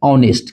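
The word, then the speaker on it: honest: ऑनेस्ट। क्या लिखा हुआ है? ऑनेस्ट मैन। औ आ रहा है औ। ये एच यहां पे साइलेंट है।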